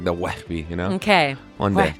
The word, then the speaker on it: Wehbe: Wehbe. Wehbe. Wow, that was pretty good. Yes. Yeah, you just need more like nailed that it. spit in your throat, you know? It's like the Wehbe, you know?